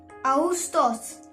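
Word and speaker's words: Ağustos: Okay, English में अगस्त, Turkish में हम इसको बोलेंगे आउस्टोस। आउस्टोस। ये अगेन मैंने रिपीट करी अगेन बार बार, ये वर्ड, ये अल्फाबेट साइलेंट है, इसकी कोई आवाज नहीं होती।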